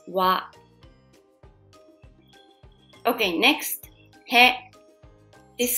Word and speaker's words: は: So you will learn the grammar later.But for now, please just remember that when you see the letter ha as a particle, you pronounce wa.